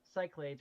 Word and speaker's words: Cyclades: control program which Incorporated Concepts from the French Cyclades project let's see what Cyclades is mm-hmm the Cyclades is a computer network French pronunciation cyclad Sao sick Lads okay okay so I was saying it wrong